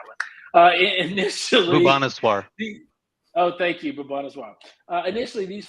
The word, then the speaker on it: Bhubaneswar: In 4 different cities: Mumbai, New Delhi, Bengaluru, I guess that's pronounced it, and Haba, I can't pronounce that one. Initially, Bhubaneswar. Thank you, Bhubaneswar.